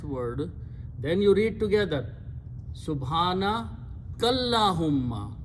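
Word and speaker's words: سبحانك اللهم: Then you read together, Subhana Kallahumma. You join kaf with the lam here. Okay, Subhanaka, kaf has a zabar. So you join that kaf with this lam and don't pronounce this alif in between.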